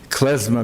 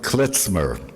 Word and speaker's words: klezmer: I found in Poland later on that there was a resurgence of klezmer music. They pronounce it klezmer, because in German a Z is pronounced Z, yeah, klezmer music.